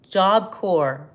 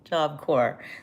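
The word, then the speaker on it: Job Corps: JobCore. JobCore. The P is silent.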